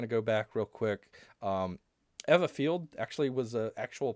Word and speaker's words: Ewa: to find what's called Eva. It's spelled EWA, but I found out that it's kind of pronounced Eva. So I hope I get that right.